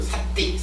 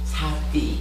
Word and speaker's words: sati: 지난주 수업 마치면서 제가 발음을 강하게 해가지고 삿띠 이랬더니면은 이사장님께서 틀렸어, 삿띠라고, SATI, 삿띠, 부드럽게 발음해라 이러셔가지고 제가 지금 노력하는 중인데, 제가 워낙 이거 발음을 강하게 하는 사람이 돼서 그런지 쉽지 않아요.